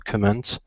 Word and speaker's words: comment: allowing other people to comment okay good all right um that last word is comment okay so stress is at the very beginning uhuh one more time